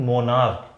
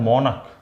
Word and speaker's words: monarch: मोनार्क। जबकि मोनार्क नहीं, इसका प्रोनाउंसिएशन होता है मोनक।